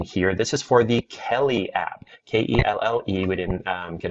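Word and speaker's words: Kelle: This is for the Kelly app, K-E-L-L-E. We didn't get a misspelling there. That's actually how it's spelled, K-E-L-L-E.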